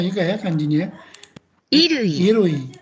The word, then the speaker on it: 衣類: 衣類、 Irui, dibacanya irui artinya irui itu sesuatu yang dipakai oleh kita ya.